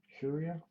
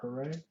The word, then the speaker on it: Hiura: So two Hiuras, Hiura, I think is how you pronounce it. I've heard it a couple different ways. I heard somebody say Huria or Hooray. I'm going to say Hiura until I hear for sure.